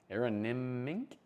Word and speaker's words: Aronimink: Aronimink, is how you say it.